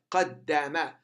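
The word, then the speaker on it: قدّم: you pronounce the dal twice. The first one with sukoon and second one with fatha.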